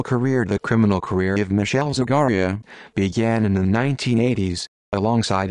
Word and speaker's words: Michele Zagaria: michelle zagaria italian pronunciation mikhail zaharia born the 21st of